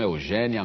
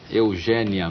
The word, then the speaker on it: Eugénia: Você deve ter percebido que eu fiz um esforço aqui para dizer Eugênia e não Eugênia. E não Eugênia. O seu nome se escreve com acento agudo.